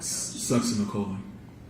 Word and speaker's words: succinylcholine: And how do you pronounce that again, Dr. Succinylcholine.